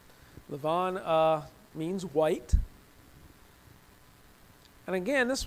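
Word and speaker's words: לבן: are introduced to Laban in the Hebrew it's pronounced Lavon Lavon means White and again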